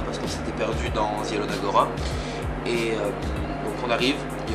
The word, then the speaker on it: Zielona Góra: C'est pas Zielona Góra, c'est Zielona Góra. Mais comme je suis français, on va dire Zielona Góra, parce que c'est moins chiant.